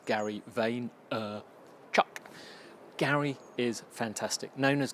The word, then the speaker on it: Vaynerchuk: Now, it's the second in a series of 3 by Gary Vaynerchuk, or as he says, Gary Vaynerchuk.